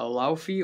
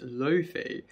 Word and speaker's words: Laufey: on the new uh allow fee or actually pronounced Luffy album Bewitched so yeah